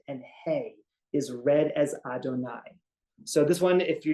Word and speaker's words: Adonai: why it's interchangeable so that's where Jehovah comes from but that's not the way it's pronounced in synagogue the yud is pronounced as an Al and the he is pronounced as a that's just not a mistake because right the Y and is read as Adonai which begins with the letters Al and God's name is not pronounced in the same way that it is written however in the world to